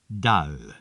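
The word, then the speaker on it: دال: Dal. This letter is pronounced more or less like dal.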